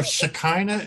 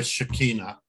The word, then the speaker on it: Shekinah: is that in Chicago you know Shekinah is the traditional way of pronouncing my name but it doesn't work for me I I go by Shekinah the right Shekinah it's confusing if